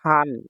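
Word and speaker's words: 半: কাঞ্জি এগুলো হ্যা এগুলো পরীক্ষায় থাকে এটা হচ্ছে হান হান অর্থ হচ্ছে অর্ধেক হানের কাঞ্জি হ্যা হান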